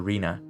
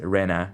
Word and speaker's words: Rena: first started playing this i watched the pronunciation of rena and call her reena but no no i apologize for it for that does those cringy first episodes rena it is the name let me stick